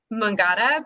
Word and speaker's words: Mangata: at um i believe is it pronounced mungada yeah we got apothecary yeah mangada but it's m-a-n-g-a-t-a as you can see